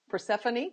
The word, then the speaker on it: Persephone: nymph was transformed by Queen purr I always mispronounces purse Persephone there we go into a sweet smelling mint